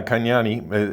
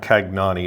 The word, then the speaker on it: Kanyani: kanyani is um uh kanyani is the right way to say it just for the record it's not kagnani it's kanyani uh he is perhaps maybe